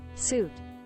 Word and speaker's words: suit: Suit. As in like what you wear.